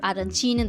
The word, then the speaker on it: arancine: Tortellini are from Bologna, Modena, that area which is in the north, while in Sicily you can try, for example, arancini or arancine. There's two pronunciations.